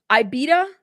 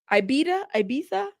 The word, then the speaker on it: Ibiza: Ibita? Is that how you pronounce Ibita? Ibiza? Okay.